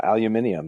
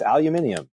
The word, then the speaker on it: aluminium: Everywhere outside of pretty much North America, yeah, aluminium. There's this extra I in there for extra intensity. Or if you're from those parts of the world, extra intelligence, I think, in some cases. And yeah, it's aluminium.